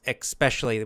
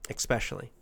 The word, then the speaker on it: especially: Canadians and Americans often, probably mostly, pronounce especially. We put a little K sound in there, even though it's not spelled.